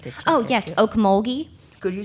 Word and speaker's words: Ocmulgee: yes, Okmulgee. Could you spell that for Yeah.